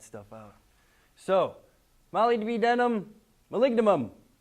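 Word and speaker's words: molybdenum: right mineral Metals ow malignum if you can't remember how to say it say it like I used to say it Mali B denim a woman named Molly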